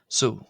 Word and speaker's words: ⲋⲟ: Uh and the version I've written here is pronounced so. So so with an s so and that's the feminine version.